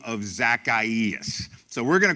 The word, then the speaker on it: Zacchaeus: through 10 a guy by the name of Zacchaeus so we're gonna call him Zach for the